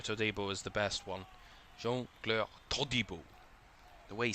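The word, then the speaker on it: Jean-Clair Todibo: I have to say, if you ever saw the video of the players pronouncing their names, Jean-Claire Todibo is the best one. Jean-Claire Todibo.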